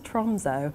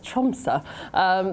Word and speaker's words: Tromsø: So I went to the city of Tromsø, which I was told how to pronounce it because I was like, where's Tromsø? And they're like, no, it's Tromsø.